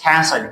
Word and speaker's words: castle: And the next one is castle. S-T-L-E. Here again T is silent.